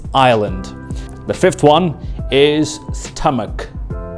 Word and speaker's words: Ireland: it is ireland ireland it's not island or island it is ireland the fifth one is